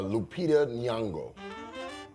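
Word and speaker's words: Lupita Nyong'o: Will uh Lupita Niango, great job on pronouncing her name.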